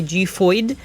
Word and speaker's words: Xiphoid: So officially in the ad, they say XIPHOID, like XIPHOID XCALIBUR or whatever, right? So that's what I'm gonna be calling it, just based on the advertisement. I know that there's been various pronunciations, but XIPHOID is what I'm going to go with.